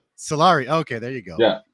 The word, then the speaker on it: Solari: you pronounce it uh Solari Solari okay there you go yeah so I'm using my bad French accent and it's wrong completely it's actually Italian it's Italian oh yeah